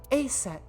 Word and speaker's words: Aset: named isus but in egyp ancient Egyptian it's pronounced closer to EET or aset H how do I explain this I told